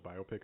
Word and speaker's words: biopic: Did you know that the correct pronunciation of biopic is biopic?